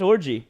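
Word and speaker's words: Orji: for the judges please what is the correct pronunciation that's orgy yeah that's orgy I would say that's orgy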